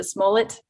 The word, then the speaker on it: Smollett: how to say his last name is a smullet yeah you did it roll it okay when